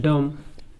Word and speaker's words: dumb: जैसे COMB comb, BOMB bomb, CLIMB climb, DUMB डम। तो ये एम के बाद बी आ जाए तो बी को साइलेंट कर देगा।